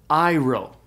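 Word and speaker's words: αἴρω: vowel is an ioda the alpha ioda D thong is pronounced I like in the English word Isle and so the Greek word that means I raise or take up is pronounced iro iro you can ignore those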